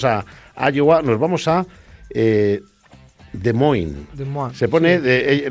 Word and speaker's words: Des Moines: Los franceses en realidad sería Des Moines. Des Moines. Los americanos dicen Des Moines. Han hecho ahí, me he visto ahí todo, claro, la pronunciación a la francesa sería Des Moines y estos dicen Des Moines.